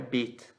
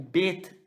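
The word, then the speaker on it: ב: O Bet, sem o pontinho, que é esse que eu estou desenhando aí, ele vai ter som de V, tá? Com o pontinho dele, ele vai ter som de B, tá certo?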